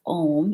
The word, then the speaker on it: Om: which sounds like uh it sounds like o in sanskrit when you put a and u together so it's om is the correct pronunciation